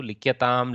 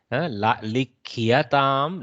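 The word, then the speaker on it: likhyatām: Ya has to be heard clearly. Likyatam, likyete, likyantam. You try to pronounce the yakara. In some places, it becomes a little twisted to pronounce the yakara, but we should try and put the effort.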